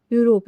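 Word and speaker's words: Europe: यूरोप है। यूरोप का जो उच्चारण है यह किससे होता है? तो यह होता है यू।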